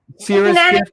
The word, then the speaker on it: Syrah's Gift: sorry, I gotta I gotta learn how to pronounce that properly. Syrah's Gift? Syrah, yeah. Syrah's Gift, Connie's new album.